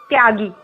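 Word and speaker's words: त्यागी: Tagi is the opposite of, not opposite, but it's the a way of pronouncing, Bengali way of pronouncing tyagi, the detached person.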